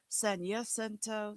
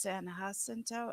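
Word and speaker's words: San Jacinto: Okay, here's Sanento. Sanento, San Hasento. I don't know which for sure is right, but I think it's San Hasento. And I've been saying Sanento.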